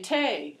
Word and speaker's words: tea: They rhyme, they say tay instead of tea, the way the Irish do.